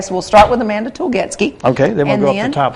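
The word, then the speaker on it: Tulgetske: Telgetsky. Tulgetsky, right? Tulgetsky. T-E-L-G-E-T-S-K-E. T-U-L-G-E-T-S-K-E. There's an E there. That's why I messed up.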